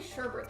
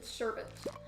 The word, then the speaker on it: sherbet: Oh, I think it's pronounced like sherbet. I feel like a lot of people say sherbet though, but the thing is, there's no second R in the word. It's sherbet.